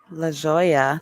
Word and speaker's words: La Jolla: La Jolla, thank you.